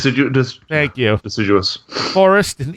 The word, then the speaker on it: deciduous: It's I never know how to say this word, decidus, Decidous. Deciduous.